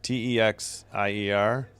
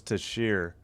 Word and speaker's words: Texier: I didn't say Texier. I said to share. I'm sure I'm messing it up. It's Texier. Okay, Texier. I thought it was Teixeira.